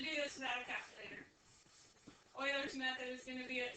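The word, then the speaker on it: Euler: Like you have to learn how to pronounce Oiler appropriately or I think that would make sense.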